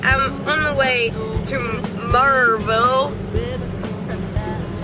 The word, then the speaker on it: Maryville: I'm going to do something with it, but anyway, I'm on the way to Maryville.